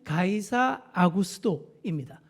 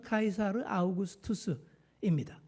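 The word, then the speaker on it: Caesar Augustus: 가이사의 양자 누가복음에 나오는 가이사 아구스도입니다. 정확한 발음은 카이사르 아우구스투스입니다.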